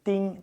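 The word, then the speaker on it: 钉: So you have this character here nail and it's pronounced ding ding ding ding or just one ding actually.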